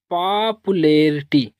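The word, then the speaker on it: popularity: पापुलेरिटी क्या पढ़ेंगे?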